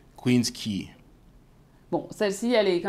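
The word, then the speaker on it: Queens Quay: en tout cas surprenante la rue qui s'affiche ici qu'on pourrait lire facilement Queens OK et qui se dit Queens key bon celle-ci elle est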